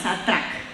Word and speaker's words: Satrac: Muy bien, Paola Barón es la gerente de producto de Satrac. Yo sigo leyendo tal y como está escrito. ¿Lo pronuncian ustedes así? Sí, tal cual, Satrac.